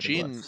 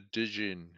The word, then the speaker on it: jinn: Jinn is the Egyptian name for a sleep demon. We've got a Dijin. Isn't it just the Jin? They don't say the D. Yeah, it's it's spelled Jinn.